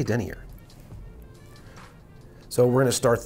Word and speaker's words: denier: How do you pronounce it? I say Denier.